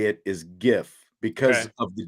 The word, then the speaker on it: GIF: you know like apparently the way it is supposed to be pronounced is Jif it was right but